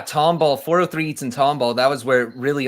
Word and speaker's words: Tomball: July 26th at 403 Eats in to is it I'm gonna may pronounce this wrong. Tomball, Texas.